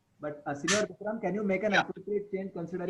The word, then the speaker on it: yo: Vikram, you were pronouncing yo as E and later on some other alphabet. Okay, it's yo. Y-O is yo. Only Y is E.